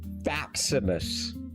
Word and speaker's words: Faximus: His name is Faximus. Now, it's meant to rhyme with fat, but it's Stimus.